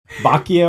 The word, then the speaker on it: Boccia: How do you pronounce it? Boccia or Boccia? And I say Boccia.